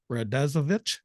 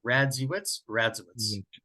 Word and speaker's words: Radziewicz: Evans show uh the uh strange reality radazovich or wisks I say vich I keep that's